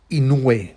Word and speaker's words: Inoue: so now back to my innoway which i believe is the right way to pronounce it uh so so what's